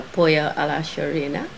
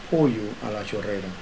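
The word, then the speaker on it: pollo a la chorrera: and he's prepared a pollo a la chorena. Dish. Yes, could you just pronounce it properly for me? It's a special dish made in Cuba that is called pollo a la chorera.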